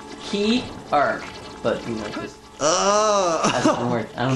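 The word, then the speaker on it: cearc: maybe no Fierce uh Iggy tells me it's pronounced key art but it doesn't work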